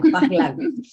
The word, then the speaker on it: Pahlaví: ¿Se pronuncia así? ¿O cómo se pronunciaría el Pahlaví y el Qajar? No, está bien. ¿Está bien? Ya, ya, Pahlaví.